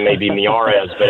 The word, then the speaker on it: Miyares: I know Jesse probably knows how to spell it, but the I is pronounced like an e in Spanish, so the last name may be miarz, but it's m i y a r.